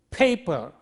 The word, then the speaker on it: paper: And therefore, how do we say this? We say paper. Listen, paper. When we say that, this is aspirated P, whereas this is unaspirated P.